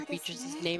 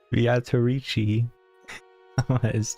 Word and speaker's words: Beatrice: How dare you say Beatrice's name as it's spelled? That's right. It certainly is fascinating. Beatrice. Oh, I did it again. That's the way you're supposed to say it.